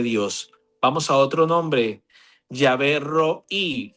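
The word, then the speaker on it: Yahvé Rohi: Yahvé Roí. Yahvé Roí, muchachos, hombres, mujeres. Yahvé Roí. Se escribe R-O-H-I.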